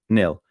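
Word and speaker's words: Nhill: No, N-H-I-L-L. Is that how it's spelled? And how is it pronounced? Nil.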